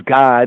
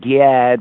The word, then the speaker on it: Gad: or the B'nai Gad, we say as God, it's not like God because that's how it's said in the Hebrew, God. The English pronunciation is Gad, but really, that's a weird vowel right there, but it's God, right?